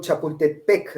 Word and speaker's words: Chapultepec: Ellos son los que acentúan la Chapultepec, ¿no? Son los que acentúan Sí. la última sílaba.